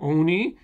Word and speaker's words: ONI: Thanks for explaining about ONI, the Oni Warhawk. Just pronounce it like the word instead of the acronym.